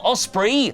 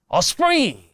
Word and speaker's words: Ospreay: best wrestlers like Will Ospree - which, to be fair to Edge’s mispronunciation, is the sound Ospreay makes when he runs the ropes really fast. Ospree, Osprey - and is where he wants to end his career.